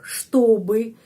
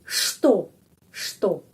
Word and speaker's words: что: Jadi, что. Itu pengucapannya что. Dan O tetap O. Kenapa? Karena penekanannya di sini.